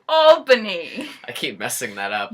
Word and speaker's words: Albany: of people don't seem to understand it's not pronounced Albany it's pronounced Albany I keep messing that up I know it's